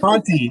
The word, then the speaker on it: Conte: Did I pronounce his last name right? Conte, yeah.